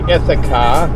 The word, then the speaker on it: Ithaca: morning everyone I'm on my way to the Ithaca if a car is a car beer company